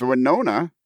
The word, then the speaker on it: Winona: goes i'm going with winona as in wine ona a reference to kevin's